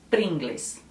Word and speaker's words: Pringles: Em países que falam espanhol, é mais ou menos como se escreve. Essa é a diferença do espanhol. A maioria das palavras está no costume da fonética e até da cultura ler como se escreve. Então, a maioria fala Pringles.